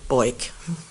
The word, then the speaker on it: Boik: so Alexander Jonathan AJ last name boy rhymes with Foyt aj boik did he ever go